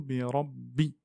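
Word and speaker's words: رب: Le ra ici, c'est un ra emphatique parce qu'il y a une fatha. Donc, quand le ra a une fatha, au-dessus, il se prononce de façon emphatique. Donc, bira. On ne dit pas bira, mais bira. Birabbi.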